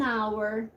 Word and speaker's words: hour: Door an umbrella an hour okay uh observe here hour it starts with the letter H but the H is silent we just pronounce the